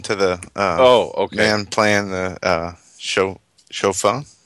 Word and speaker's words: shofar: He was saying shalom to the man playing the shofar. Is that how you say it? Shofar? My hearing aids, maybe, I think. Yeah, shofar. Shofar, right. Oh, my goodness.